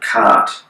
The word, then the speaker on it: khat: chew this drug called khat, K-H-A-T, some people pronounce it cat, but it's a narcotic,